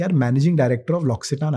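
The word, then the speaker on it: L'Occitane: hotel है बाली में एंड वहां पर एक लॉक्सिटान का स्पा है लॉक्सिटान is this amazing French brand it's उसका स्पेलिंग लॉक्सटान का स्पेलिंग है एल ओ सी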